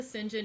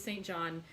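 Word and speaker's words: St. John: story with nancy pearl because to me it is always saint john and so every time when i'm pronouncing sinjin just you know i am working it i'm trying really hard to do it the proper way for you guys all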